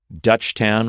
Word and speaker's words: Dutchtown: time and German immigrants I.E Dutchtown which was actually Deutsch toown but it was mispronounced so you see how